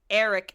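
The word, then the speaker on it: Airrick: of the guards and it's Eric, but it's spelled with an A, which is so stupid. And Eric, they pronounce it Eric.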